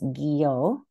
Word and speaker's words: Gyo: Gyo, pronounced Gyo Fujikawa, was an artist.